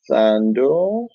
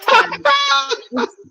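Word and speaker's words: Thando: So I'm gonna invite my next guest, Sando. Hi, Sando. Hi, Bonnie. How are you? Am I pronouncing that name right? No, it's Tando. It's Tando. Tando. The H is silent.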